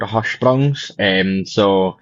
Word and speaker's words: Hirschsprung's: I'm probably going to mess this up, but Hirschsprung's disease. Is that right? Did I get that right? Yeah, so it's called Hirschsprung's. But it's spelled like that, but yeah, so it's called Hirschsprung disease.